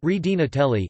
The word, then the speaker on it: Regina Coeli: The Regina Coeli or Regina Coeli, Queen of Heaven, pronounced Redina Telli in ecclesiastical Latin, is an ancient Latin Marian hymn of the Christian Church.